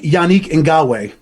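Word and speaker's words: Yannick Ngakoue: don't think it's a surpris um I like yanii andwe that's how you pronounce his his name yanii and gawe who went to the Baltimore Ravens his name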